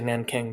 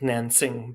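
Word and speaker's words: Nanjing: As someone who's about to teach World War II, my students who are of Chinese origin, they laugh when I say Nanking because it's Nansing, but I just try to politely pronounce things.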